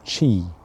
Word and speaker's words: qi: So today I'm talking about chi spelled qi pronouncedq chi life force.